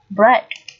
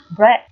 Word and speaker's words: bread: y dài tiếp bread bread từ này có nghĩa là bánh mì đúng không nào và Ea ở đây được phát âm là âm e chúng ta dùng phiên âm là chữ e thường right và từ cuối